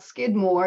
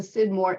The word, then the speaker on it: Scidmore: question we have is related to how you pronounce her name it is it's not okay it's not Skidmore it's a sidmore SC she is related to the branch of